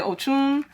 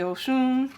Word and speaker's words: Oshun: It's so funny because it's hard for me to pronounce the CH in Oshun, because people say Ochun, I say Oshun, so because, you know, Nigerian, so.